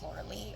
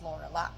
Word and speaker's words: Lorelei: my name, is that people do misconcept the name to be pronounced Lorelei or Lorelei, when in fact it is Lorelei, which is because it is the German origination of the spelling Lorelei.